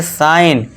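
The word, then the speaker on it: sign: साइन। क्यों? क्योंकि दोस्तों देखिए जी के बाद क्या है हमारा? एन है। तो जी साइलेंट हो जाएगा।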